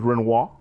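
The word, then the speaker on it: Renouard: no no it's uh the the pronunciation is renoa renoa okay now I've heard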